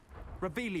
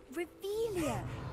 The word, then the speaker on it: Revelio: Revelius. You're saying it wrong. Ugh, Revelia. Much better.